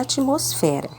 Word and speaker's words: atmosfera: letras g nessa palavra quando uma consoante é pronunciada sem o apoio de uma vogal quando ela está sozinha nós dizemos que ela é uma consoante muda e como exemplo nós temos a palavra atmosfera então nós temos o t